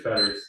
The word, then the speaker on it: Petters: Peters, Petters. That's how they pronounce it in Belgium.